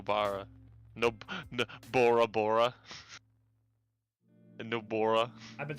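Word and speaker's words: Nobara: no no no bara nope bora bora and nobora i've been saying it wrong literally the entire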